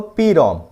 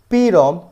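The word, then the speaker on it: PROM: Read only memory and is pronounced as पी-रॉम नॉट प्रॉम। जो आप बहुत से लोग कभी प्रॉम बोल सकते हैं इसको, ये पी-रॉम का प्रोनाउंसिएशन आता है इसका, नॉट अ प्रॉम। ये चीज आप हमेशा याद रखना, कभी भी अगर आप किसी को बता रहे हो तो पी-रॉम बोलना आप इसको, प्रॉम मत बोलना।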